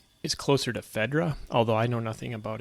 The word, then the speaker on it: Phaedra: However, I know in Latin, the diphthong AE is pronounced like the beginning of the word isle in English.